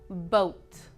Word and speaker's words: boat: But no, in English, usually OA is pronounced O. Just O, not OA, O. For example, soap. You wash your hands with soap. Not soap, not soap, but soap. Another example, boat.